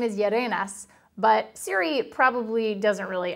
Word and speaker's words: Yerenas: So camera guy Ralph, his last name is Yerenas, but Siri probably doesn't really understand how to pronounce that.